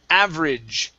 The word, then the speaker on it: average: AG, instead of saying average with a long A sound, we're going to use a short I. Average. Try that. Average. Okay. Now, the other part here, we don't want to pronounce this E. We don't want to say average. Okay, it's average. Average.